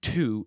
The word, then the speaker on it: two: This insight not only explains why the W in two is silent, but it also explains why the W found in its derivatives is still pronounced.